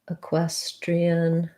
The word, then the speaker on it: equestrian: is the word equestrian equestrian has second syllable stress so the first letter e says the if sound in this word q u says quoi and what sounds we have the red tent vowel an s a equestrian